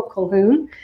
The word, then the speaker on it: Colquhoun: the first sentence of the book is it's pronounced either and it's either cohen um i just i discovered uh columns work